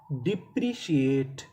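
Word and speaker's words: depreciate: टी ई इसे पढ़ेंगे ट। क्योंकि आखिरी में हमें इ का उच्चारण नहीं करना। तो मीनिंग क्या बनी? डिप्रिशिएट।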